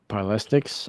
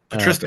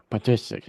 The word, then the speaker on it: Patristics: So, and I might need your help with pronouncing this word, but what is meant by the word paralistics, and who is it? Did I say that right? Uh, Patristics. P. Patristics. Yeah.